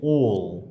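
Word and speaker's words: all: ক্ষেত্রে আমাদের হবে হচ্ছে ওল, অর্থাৎ ও ল, ও ল। এখানে কিন্তু আমরা অ উচ্চারণ করব না, অল নয়, হবে ওল।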